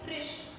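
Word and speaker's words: wrist: आवाज किसकी आ रही है? बोलिए मेरे साथ, बोलिए रिस्ट। बोलिए रिस्ट। डब्ल्यू किस पर सिट कर गया? आर पर। साउंड आर की आ रही है।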